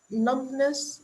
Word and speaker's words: numbness: slower nerve impulses and numbness in the fingers. Numb. Yeah, this word. Yes. Numbness. The B is silent. Numbness.